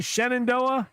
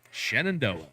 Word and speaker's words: Shenandoah: Sendo Valley how do you say it Brian Shenandoah Shenandoah Shenandoah and the Shenandoah Valley shoe Stacks uh